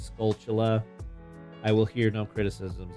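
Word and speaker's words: Skulltula: And yes, that is the correct way to say that it's not scaltula, it's the end of the word tarantula. So it's scaltula.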